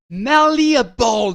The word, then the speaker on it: malleable: Malleable. This is a wonderful word. Say that word again. Malleable. You say it so Malleable. Malleable, even. You have to put this emphasis on the right syllable.